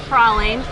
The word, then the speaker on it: praline: just called corey martin to confirm the correct pronunciation of this treat and uh he said definitely was prawling i'm so glad i called him because i